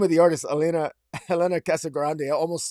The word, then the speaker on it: Casagrande: uh casa grande uh i wrote down how to pronounce that name because i always pronounced it wrong but i believe i said that right elena cross a casa grande uh on the art